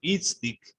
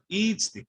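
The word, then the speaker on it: itztic: Itzlik. Okay. Notice how I'm putting the stress on the first I. Itzlik, Itzlik.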